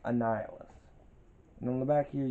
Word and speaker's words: Annihilus: a hard name to pronounce but it is pronounced annihilus and on the back here you have the